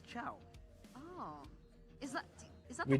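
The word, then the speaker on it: Chou: Mobazane apparently pronounces it as Chow.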